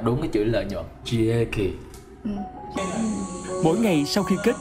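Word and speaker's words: 利益: Rieki. Rieki. Đúng không? Đọc đúng không? Đúng rồi. Vậy là anh đọc đúng cái chữ lợi nhuận. Rieki.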